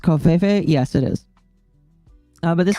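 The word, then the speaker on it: covfefe: Anyway, is it pronounced Kofefe?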